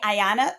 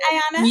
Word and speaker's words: Ayana: And then our new guest for the week is attorney Ayanna. Am I pronouncing it right, Ayanna?